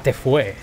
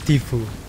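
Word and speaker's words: Tfue: A Tefue. A Tifu, que quiere que... Que lo pronunciemos bien, los hispanos cabrones que somos. Que lo pronunciamos mal. Es Tifu.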